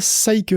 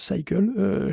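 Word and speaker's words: SYCL: Il y a ROCm chez AMD, et il y a Cycle, alors c'est écrit SciCL, mais ça se prononce Cycle, chez Intel aussi.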